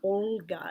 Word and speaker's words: Olga: my head the name Olga comes to mind there's a soft sign after the letter O and it indicates you have to roll the L so it's pronounced more like Olga and then there's also